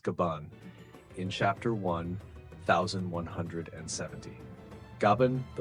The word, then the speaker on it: Gaban: And we discovered this in a spectacular way through the words of Scapper Gabban, pronounced Gaban, in chapter 1,170.